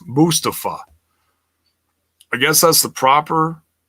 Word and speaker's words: Mustafa: It's not Mustafa. That's mispronouncing the wrong syllable.